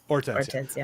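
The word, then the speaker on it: Hortensia: In Spanish, we don't pronounce the H. So, or orensia. Ortensia.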